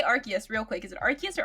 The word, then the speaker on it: Arceus: they've said at least the official company says like arceus or archais but i will uh i only say arceus i won't i won't do it like the the original way but uh yes i'm